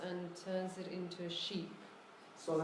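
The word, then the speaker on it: 十: So the pronunciation is She. the ship. Is the hint for the pronunciation. Right. And then because of the fox, it goes up, so it's a little bit like a question.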